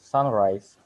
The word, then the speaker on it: sunrise: or use this noun the stress syllable is on the first syllable as you can see in the word sunrise there's a small uh